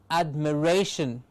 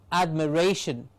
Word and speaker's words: admiration: one before last syllable words ending in ion takes the primary accent on the penultimate syllable please remember what these